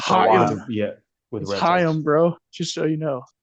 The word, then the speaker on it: Chaim: Yeah, with Chaim, bro. Just so you know. Whenever you hear the Jews say L'chaim, that's it. Okay. L'chaim. That's how you pronounce that.